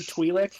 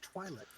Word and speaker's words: Twi'lek: I mean, I'm pretty It's sure like the more first time you heard Twi'lek out loud, and you're like, oh, that's how it's pronounced. Oh shit! Thought it was Twilight.